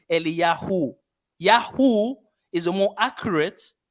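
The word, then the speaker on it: אליהו: Elijah in the Hebrew, it's Eliyahu. Yahu is a more accurate short pronunciation of the Tetragrammaton.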